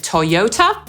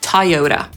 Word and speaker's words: Toyota: Dosyć prostą nazwą jest Toyota, bo Brytyjczyk powie /tɒˈjəʊtə/, Amerykanin powie /tɑːˈjoʊt̬ə/.